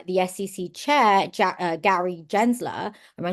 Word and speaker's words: Gensler: to even fire the SEC chair Jack Gary Gensler am I saying it right jener yeah yeah Gensler yeah that's it um yeah and he was